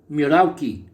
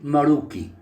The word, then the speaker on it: Merauke: for raising the prices pronounced or written names miraki and maruki both are the same so Meraki is maruki